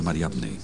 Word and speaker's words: Mariamne: era un apóstol en el movimiento cristiano más antiguo, entonces la designación de Mara en el osario de Mariamne podría indicar algo extraordinario.